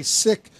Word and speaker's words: Sikh: they are they're open to everyone I've always pronounced the seek face seek others say sick uh what is the correct uh the correct